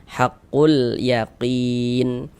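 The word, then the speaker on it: حق اليقين: Nah, maksudnya dibaca izhar itu huruf lamnya itu terbaca jelas, terbaca huruf lamnya ada tanda bacanya kayak gitu. Haqqul yaqin. Kemudian qin dibaca panjang, ini namanya mad arid li sukun.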